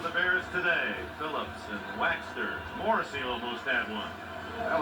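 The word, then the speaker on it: Waechter: He said it's Waxter, just like beeswax.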